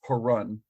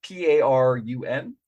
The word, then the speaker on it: Parun: Now, the demon lord Rakdos the Defiler was himself one of these original signatories, known as Perun, I think. I have no idea how to pronounce that word. It's Parun.